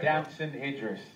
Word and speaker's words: Damson Idris: Damson Idris.